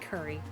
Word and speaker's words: Kari: need one person who spells her name k a r i pronounces it Curry I I've said this